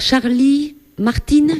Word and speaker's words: Charlie Martin: présent très bien alors Charlie Martine junior c'est ça c'est comme ça que tu le prononces voilà je suppose que